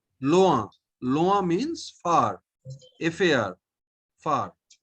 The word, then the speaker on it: loin: So oin is o. Okay. Oin is o. If in is a, then oin is o. Okay. Now you pronounce the first word. Loa. Loin.